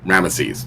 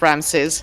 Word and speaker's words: Ramesses: either ramses or ramesses what we know from those cuneiform transcriptions was really pronounced something close to the amma in ramesses so i blame i blame ten commandments for how we pronounce ramses yeah yeah i blame